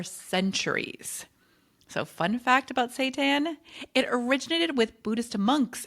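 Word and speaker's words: seitan: Number two, Satan. Now, I think that is how you say it, but it is not a weird fake food.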